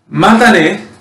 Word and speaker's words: matane: Matane, right?